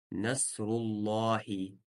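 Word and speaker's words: نصر الله: Здесь мы читаем твердо. Насруллахи. Потому что перед ним, перед словом Аллах, стоит домма. Мы сказали, если перед словом Аллах стоит домма или фатха, то читаем лям твердо. Насруллахи. А если касра, то читаем мягко.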